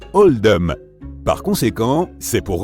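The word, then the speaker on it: Oldham: été fait pour refléter la prononciation d'oldam dans l'accent local qui se rapproche davantage de oldum par cons qu c'est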